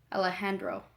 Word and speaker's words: Alejandro: Luis asks, it's okay, haha, just pronounce the J like an H. Oh, okay. Alejandro.